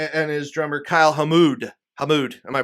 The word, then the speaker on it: Hamood: Hamood, am I pronouncing that correct?